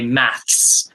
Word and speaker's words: maths: chicolin did you know there's a difference between how we say math in the uk versus the us i don't know so in the uk in the uk in in the us they say math but in the uk we say maths with an s on the end oh i never knew that okay thank you oh cinema s oh okay yeah it's a bit harder to say maths like months exactly and there's there's